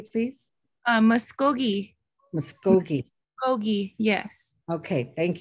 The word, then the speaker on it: Muskogee: But yeah, so I just was, when you were trying to pronounce Muskogee Creek, it's Muskogee.